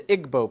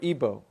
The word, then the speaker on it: Igbo: Nigeria you have the Igbo people or ebo pronounced either way there's 40 million of